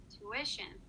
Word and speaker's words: tuition: that one more time tuition that's right you put the stress on the if intuition because it comes right before the tion or sh sound okay now i want